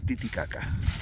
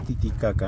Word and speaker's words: Titicaca: es el significado de Titicaca? Ya, la pronunciación correcta del lago. No es Titicaca, no, es Titicaca. Caca, ¿no? Con la K. Se tiene que pronunciar la K. Esa es la pronunciación correcta, ¿no?